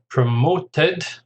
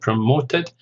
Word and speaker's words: promoted: So we've got early retirement, promoted, it's 3 syllables, stress on the second, promoted, employer, 3 syllables, stress on the second, sacked.